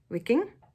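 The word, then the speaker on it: Wiking: of hugar by Mick I'm going to say that you pronounce that W like a V wicking wicking God I've butchered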